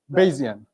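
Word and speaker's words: Bayesian: uh kind of works with is normative or baian rationality. I'm assuming it's baian. I've never looked up how it's pronounced but I want to believe that it is baian basian baian basian.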